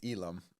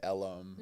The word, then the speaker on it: Elam: of things so but Elum is is the correct correct pronunciation so everyone his name is Elum Elum like a u Elum except it's an a that's why people say